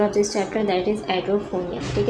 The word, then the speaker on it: Edrophonium: ठीक है, पहले इसको प्रोनाउंस करने का तरीका सीखते हैं. देखें हमारे पास देखिए लिखा हुआ है एड्रोफोनियम. ठीक है, इस तरीके से पढ़ते हैं हम.